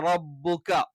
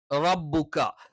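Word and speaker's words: رَبُّكَ: അപ്പൊ വലസൗഫ യുഅ്തീക റബ്ബുക, റായുടെ ഉച്ചാരണം ശരിക്കും ശ്രദ്ധിക്കണം. നാവിന്റെ തലയല്ല, നാവിന്റെ തലയുടെ മുതുവാണ്.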